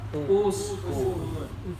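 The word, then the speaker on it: اسْكُنْ: Oh, ternyata huruf ketiganya itu kaf ya. Di sini kafmah. Maka jangan ragu dibaca uskun ya.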